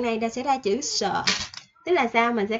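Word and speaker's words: ㅅ: Nè, tiếp theo, số 7, số 7 mình sẽ có chữ sờ. Sờ. Sờ. Cái chữ này nó sẽ hơi gió gió ha các bạn.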